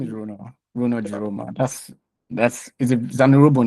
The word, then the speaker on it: Runor Jiroma: Um my name is Runo Runo Jeroma. That's That's a Zonerobo name. So, you have to address me to pronounce it properly, but all right. Um my name is Runo Jeroma.